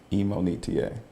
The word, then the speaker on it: Imonitie: it's my fault but the correct way to say my name is emonita so people in college